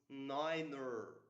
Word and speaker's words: niner: Nine becomes niner to avoid confusion with nine the German word for no.